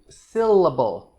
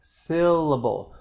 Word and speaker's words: syllable: so when i say syllable syllable the first syllable of syllable is stressed it sounds longer even though it's normally